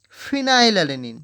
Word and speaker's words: phenylalanine: phenylalanine singulator is f okay you pronounce like this phenylalanine that is f h e n y l okay this will